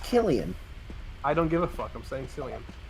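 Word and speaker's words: Cillian: slian Murphy as me apparently it's pronounced Killian I don't give a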